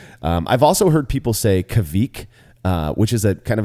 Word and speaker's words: Kveik: And I guess there's, the V is definitely has to be harder. I think that was something like you mentioned that some people were like stemming away from, like Quake or Kveik. But it's Kveik, I hope.